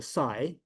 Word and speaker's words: Cai: So is a Chinese pronunciation and if you cannot pronounce properly then you you can try. So this the sigh and that's a Greek uh letter and very similar but Kai a lot